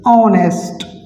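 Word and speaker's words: honest: अगर हम कहेंगे संदीप इज एन ऑनेस्ट, तो ऑनेस्ट एच तो साइलेंट है हमारा, ऑनेस्ट तो ओ से शुरू होते हैं, तो ओ कहाँ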